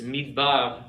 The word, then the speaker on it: midbar: This midbar means desert, wilderness. So here it is silent. Midbar. It doesn't, there's no vowel sound with that. Do you see that? That's the standard use, the silent schwa.